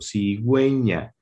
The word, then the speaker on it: cigüeña: Por ejemplo, en la sílaba ge, gi, cuando debe sonar la U, cuando quiero que suene la U, debe de ponerse sobre esta una diéresis, es decir, 2 puntos. Por ejemplo, cigüeña, pingüino.